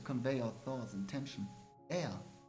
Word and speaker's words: Ea: Air, I believe, was the pronunciation used when referring to our people.